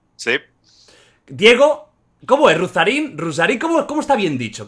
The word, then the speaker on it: Ruzzarin: Está perfecto, como lo dijiste la primera vez, Rusarín es un apido italiano, pero sí, bien pronunciado. Ahí la doble Z puede ser engañosa, pero no ha sido